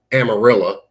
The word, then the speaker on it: Amarillo: Uh, it's a little bit outside of Amarillo, which is pronounced Amarillo.